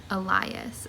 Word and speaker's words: Elias: look up the pronunciation it is liar and it is elias so it's always the i sounding pronunciation so yeah what have